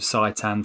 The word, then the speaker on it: seitan: What's seitan?